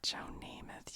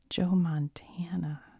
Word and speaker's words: Joe Montana: had was Joe namoth on the team not Joe namoth you guys Joe Montana dang it I said it wrong on the